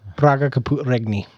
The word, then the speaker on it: Praga Caput Regni: All right, the last one I want to talk about on my list is Praga Capu Regni. However you pronounce that. Praga Caput Regni.